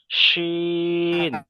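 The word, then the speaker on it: شين: আর এটার আওয়াজ হবে শিন, শিন। দুটার কিন্তু আওয়াজ আলাদা, ঠিক আছে? দুটোর উচ্চারণ আলাদা।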